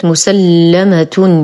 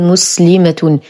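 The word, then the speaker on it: مسلَّمة: الآية 71 كلمة مسلمة بتشديد اللام مع الفتح ولا نقول مسلمة، مسلمة.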